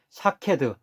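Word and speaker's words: שָׁקֵד: 따라서 히브리어로 지켜본다, 즉 쇼케드라는 말과 첫 모음만 빼고 발음이 같은 살구나무, 즉 샤케드 환상을 보여주신 것은 에레미야의 예언대로 이루어질 것임을 강조하면서 약속하고 있는 것입니다.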